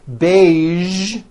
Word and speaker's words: beige: casual television very good now there are only a few words that have the voiced z sound at the end a few of these words are the color beige the word massage and the word Prestige okay now that you